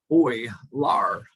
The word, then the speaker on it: Euler: so as it says his pronoun name is pronounced oy lar euler born in 1707 and another mathematician pierre simone